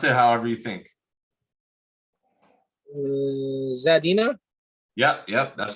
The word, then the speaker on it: Zadina: So this name you cannot pronounce it however you think. Zadina?